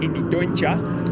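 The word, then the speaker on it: Indy Dontje: Championship leader, Phil Durr, along with Indy Doncha, who's been telling me how to pronounce his name, Indy Doncha, apparently.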